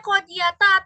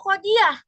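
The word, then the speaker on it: قاضية: Berarti bacanya qodiyata atau qodiah kalau diberhentikan dibacanya kalau di apa? Kalau diberhentikan. Nah, kalau ada tanda bulat ini ya, Raina nih berarti dibacanya qodiyata atau qodiah diah. Iya, qodiah ya bacanya berubah menjadi sukun qodiah gitu.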